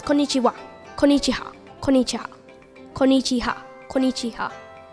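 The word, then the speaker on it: こんにちは: it's called konichiwa so actually the wa is pronounced a bit like a heart so it's konnichiwa konichiwa konicha konichiha konichiha so it is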